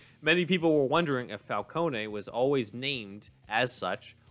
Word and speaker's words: Falcone: fox says also i'm italian and falcone is pronounced falcone uh so that that adds on to what